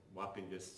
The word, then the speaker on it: Wappingers: Wapinkus sounds like how you should pronounce Wappingers.